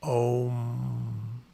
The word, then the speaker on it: Om: But Om, Om, Om is something along the lines of how it's pronounced.